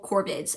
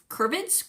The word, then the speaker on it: corvids: There is a rampant deer disease that is highly contagious to all corbids, I think, is what how you pronounce it. Corvids. Corvids. I'm going to call them corbids.